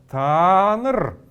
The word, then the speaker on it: танр: И есть еще одно обозначение слова танр. Здесь мы видим, что используется вот этот вот суффикс, вот это вот местоимение та, к которому добавляется суффикс нр. Танр. Вот здесь мы должны долго произносить его.